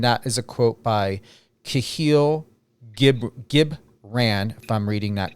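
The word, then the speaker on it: Kahlil Gibran: And that is a quote by Kahil Gibran, if I'm reading that correctly or pronouncing that correctly.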